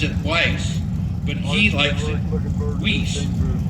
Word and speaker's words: Weiss: Some people that spell his last name pronounce it Weiss, but he likes it Weiss.